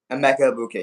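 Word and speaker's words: Emeka Egbuka: Emeka Ibuka, yeah. Emeka Ibuka.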